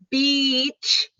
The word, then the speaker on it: beach: It's beach is the place we go to wear our swimsuit and play beach. And bitch is the short I.